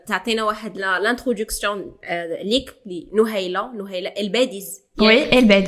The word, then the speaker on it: الباديس: دونك تعطينا واحد لانتروداكسيون ليك لنهيله الباديز. وي الباديز نطقها صحيحه.